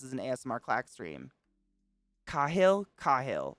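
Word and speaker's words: Kailh: Kahil, like Ka, like soft A. See, Whoa, Katie. I've heard it pronounced kale, but I don't know.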